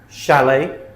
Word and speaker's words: chalet: So they're spelled ch, but we pronounce them sh. Okay? Chef, chalet, machine, brochure, parachute, chaperone, chandelier, crochet, quiche.